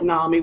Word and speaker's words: NAMI: So, NAMI, we call it NAMI. We pronounce it NAMI.